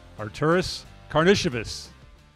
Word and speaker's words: Artūras Karnišovas: We are pleased to be joined on the Bulls Talk podcast by none other than the Executive Vice President of Basketball Operations, Artūras Karnišovas.